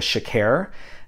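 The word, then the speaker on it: chekere: the Latin instrument it's called like a Shakir um so c-h-e-k-e-r-e I think that's how you pronounce it it sounds like they're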